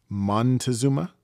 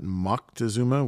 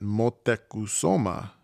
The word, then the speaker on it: Moctezuma: a kid for example the most common pronunciation of the aztec emperor that was in power when the spanish invaded was montezuma with an n later we learned that moctezuma with a c was the more correct way to pronounce it and that's still the most widely used version today but scholars at